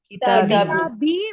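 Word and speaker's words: كتابي: Kitabi with a ya, right? You have a kasra and then you have a ya here, right? That's how you say kitabi.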